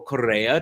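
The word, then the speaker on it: Corea: check that out Chi Korea or Korea to give it the Spanish pronunciation is of course someone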